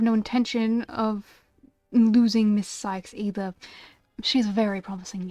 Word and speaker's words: Sykes: Sykes? It's pronounced Sykes.